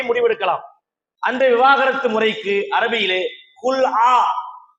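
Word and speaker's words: خلع: அந்த விவாகரத்து முறைக்கு அரபியிலே குல் ஆ அதை குலான்னு இவங்க சொல்லிருவாங்க உச்சரிப்பு வராது குலான்னு சொல்லுவாங்க குல் ஆன்னு அதுக்கு பேரு இப்படி ஒரு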